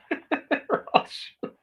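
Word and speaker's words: Rothschild: Roth Shields. Thank you for pronouncing Roth Roth Shields correctly. Hardly anybody does.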